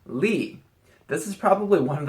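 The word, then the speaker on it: 力: 17 we have this character it means strength pronounced Lee this is probably one of the most commonly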